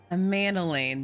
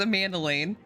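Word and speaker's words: Emmanellain: thank you enough for saving younger manilane's life a mandoline that's how I pronounce it I have to remember that I have to remember that his name is pronounced Amanda Lane I've also received letters from both house a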